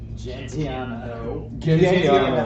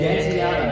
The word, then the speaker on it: Gentiano: Gentiano. Hard G, motherfucker. Hashtag daddy shit. Gentiano.